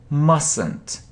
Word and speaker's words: mustn't: you mustn't pronounce it you mustn't pronounce it you mustn't say it yes we don't say t mustn't mustn't okay next should so